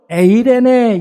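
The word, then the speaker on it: εἰρήνη: 헬라어로 에이레네, 이렇게 발음을 하는데, 여러분, 이 평강이라는 말은 샬롬, 히브리어로 많이 들었죠.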